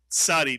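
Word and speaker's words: צדי: And then we have the tsadi, Mitsuyan, that makes the the TZ sound, as in Mr. and Mrs. Cats. Cats, the ts sound.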